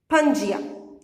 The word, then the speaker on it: Pangaea: supercontinent was known as Pangaea how you will pronounce it Pangaea it slowly began to break apart into seven